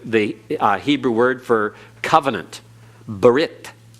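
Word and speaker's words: ברית: Same with the Hebrew word for covenant, brit. Brit in modern Hebrew is just Brit.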